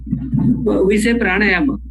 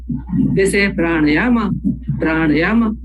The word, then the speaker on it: pranayama: And we say pranayama. They say pranayama.